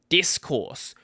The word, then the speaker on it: Discourse: They are running something known as discourse, not Discord, but expect me to mispronounce it at least once or twice.